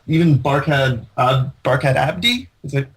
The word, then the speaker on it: Barkhad Abdi: And I think that there's some other great names in this, like even Barkhad Abdi.